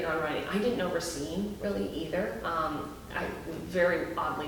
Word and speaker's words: Racine: Well, I'm from Racine. Yeah. You're from Racine? Yeah. Learning something new. Man. Right. And we both pronounce it correctly, as you can tell.